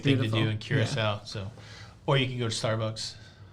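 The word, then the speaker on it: Curaçao: Any recommendations for Caraco? Carousel. Oh, I got to say it correctly. Curacao.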